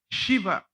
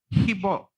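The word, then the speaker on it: শিৱ: We don't say shiva. We say hibo.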